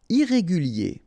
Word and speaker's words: irrégulier: Irrégulier, okay, remember, I-E-R at the end of your word here, it will be yé, okay? Irrégulier, irrégulier.